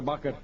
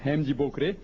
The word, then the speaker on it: Hemji Bokre: Bakre. That's right, the correct pronunciation is Hemji Bokre.